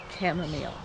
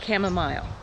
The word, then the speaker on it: chamomile: be talking about is chamomile or chamomile it's pronounced both ways but and it depends